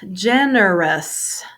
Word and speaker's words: generous: Next word is generous. Generous. 3 syllables. First syllable has a stress.